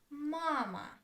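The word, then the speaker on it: мама: Mama. Mama. Two syllables. Where is the stress? Mama. stresses on the first syllable.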